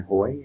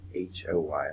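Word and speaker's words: Haughey: I am Hoy, H-A-U-G-H-E-Y, but it's pronounced H-O-Y, like Hoy.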